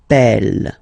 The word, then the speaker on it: appelle: they are the same, then it does change the pronunciation of e. You tend to pronounce it like really open. That's the reason why you pronounce it appel, appel.